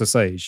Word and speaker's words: Osage: I'm glad you pronounced that because I was debating whether to do Osage or Osage. Yeah. It's Osage, yeah?